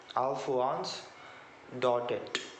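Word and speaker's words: Alphonse Daudet: it's written by alforanz dotted that the actual pronunciation of his name in english okay alph once dotted and to remember the the name of any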